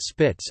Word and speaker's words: SSPTS: The station-to-shuttle power transfer system (SSPTS), pronounced SPITS, allowed a docked space shuttle to make use of power provided by the International Space Station's solar arrays.